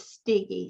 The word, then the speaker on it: Steege: mispronounces it but um if you think of Twiggy not that I look like her but that's how my last name is pronounced as stiggy so it's a hard it's a hard G and it's kind of